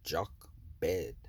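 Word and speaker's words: Jochebed: and break it down this is transliterated as jock bed in English today and that is spelled j o c h um e b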